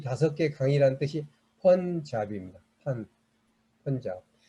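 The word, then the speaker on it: Punjab: 펀잡. 여기서 보면 영어로 펀잡이라고 읽습니다. 왜냐하면 쓰기는 판잡이라고 읽지만 아까 말한 대로 그냥 아는 어로 발음이 나오기 때문에 펀잡으로 읽는다는 것을 어학적인 거지만 말씀을 드립니다.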